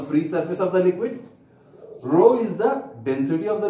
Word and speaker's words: rho: depth from the free surface of the liquid Rho this is called as Rome pronounced as Rho this is the density of the liquid and